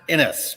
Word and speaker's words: Innis: your last name my last name is pronounced innis but it's all good there